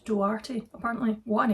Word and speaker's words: Duarte: I'd been saying Jude Duarte. It's Jude Duarte, apparently.